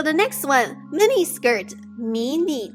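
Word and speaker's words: 迷你: Alright, so the next one, mini skirt, 迷你裙. 迷你裙. mini 裙. So mini literally phonetically translated from mini.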